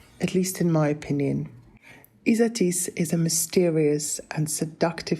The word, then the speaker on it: Isatis: that's isatis from Joni and yes it is pronounced isatis not isatis or atis next up we've got